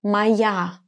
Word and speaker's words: моя: to use the form моя. Pay attention to the pronunciation. Моя. The letter O is going to be pronounced as A because it's unstressed.